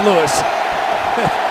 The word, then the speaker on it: Louis: Or actually, pronounced Lewis.